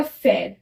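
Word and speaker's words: frère: बट अगर ई पे हमने एक्सेंट लगा दिया तो इसका प्रोनाउंसिएशन हो जाएगा फेयर, क्या हो जाएगा फेयर।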